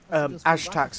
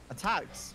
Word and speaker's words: ATKZ: Ashtax is how you say his name. Attacks?